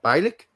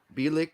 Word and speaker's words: Bielik: midfielder will be uh bilik that's how we would pronounce that in germany at least um he plays